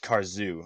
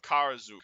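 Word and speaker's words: Karzoug: those scrolls you have oh i thought it said car zoo okay my bad no kara zoo do you want me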